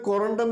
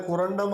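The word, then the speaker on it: corundum: കുറണ്ടം എന്ന സ്ഥലത്തു നിന്നാണ് കുറണ്ടം അഥവാ കുരുവിരും എന്ന വാക്കുകൾ ജനിച്ചത് കുരുവിരും എന്നാൽ മാണിക്യം എന്നാണ് മാണിക്യവും പുഷ്യരാഗങ്ങളും അഥവാ സഫയർ ഇവയെല്ലാം കൊറണ്ടം വിഭാഗത്തിൽ പെട്ട രത്നങ്ങളാണ് കൊറണ്ടം എന്ന തമിഴ് വാക്കിനെ കൊറാണ്ടം ആക്കിയത് ഇംഗ്ലീഷുകാരാണ് അവരുടെ ഉച്ചാരണത്തിലുള്ള വ്യത്യാസമാണ് തമിഴ്നാട്ടിലെ സ്ഥലവുമായിട്ട് ബന്ധപ്പെട്ട ഇതിനെ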